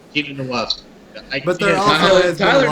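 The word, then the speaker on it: Uchenna Nwosu: How do you pronounce his name? Uchenna Nwasu.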